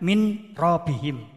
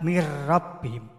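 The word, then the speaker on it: مِنْ رَبِّهِمْ: Misalnya min laduna, membacanya mil laduna. Nah ini juga ada tasdidnya nanti ya. Kemudian min rabbihim, membaca mir rabbihim.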